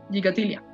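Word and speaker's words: Gikatilla: Siempre hay un montón de discusiones o de diferencias de cómo se pronuncia este apellido. Gigatilia, Gigatilia. Ahí, bueno, yo así lo pronuncio, Gigatilia.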